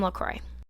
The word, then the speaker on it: La Croix: the french language but it would not be pronounced like that in french it's supposed to be la croix that's how you would